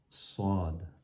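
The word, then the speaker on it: ص: Sad. Regardez comment je le fais. Sad. Donc le sad, il ressemble, il pourrait ressembler au sin, mais il est plus grave, il y a une emphase, un accent. Sad.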